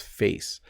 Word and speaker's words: face: So an example is face. So when I say it quickly, you can't quite hear it, but it is there. It's like fe and s, face, face. That's how it becomes.